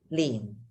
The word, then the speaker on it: 年: another thing to note about Nin. it is that you've got Nin. N spelled with an N. So the N sound nin. But a lot of times people are going to be pronouncing Nin. it L, like lean, right? Geda lean or gum lean. But it's traditionally should be pronounced with that N, nin.